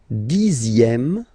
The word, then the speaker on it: dixième: Le dixième, so remember, even if you've got this X here, you pronounce it Z.